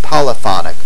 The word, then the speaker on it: polyphonic: terms of syllabic accents monophonic and polyphonic Accent on the first syllable for the adjectives and monophony and poony Accent on the second syllable for the nouns notice that the words are